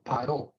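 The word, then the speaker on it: פרעה: En hebreo, faraón se dice paró, ¿sí? Paró, que se escribe con Pei, Resh y Hei, ¿sí?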